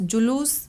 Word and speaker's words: जुलूस: जब आप इसको उच्चारण करते हैं, जब आप इसको बोलते हैं, तो ध्यान से देखिए, जुलूस, ल के ऊपर बड़े ऊ की मात्रा आ रही है, जुलूस।